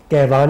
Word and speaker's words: Kaiwan: फारसी जुबान का ये लफ्ज है, कहवान इसकी प्रोनाउंसिएशन है, कभी कहीं से भी नहीं है मेरे नाम का।